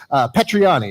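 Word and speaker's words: Petrignani: Okay, Petriani is how we say it in the business, but we call him.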